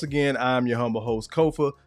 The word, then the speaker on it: Kofa: Once again, I'm your humble host, Kofa, K-O-F-A, not coffee, not kufu, not Kofi, or any variation thereof. Kofa rhymes with sofa.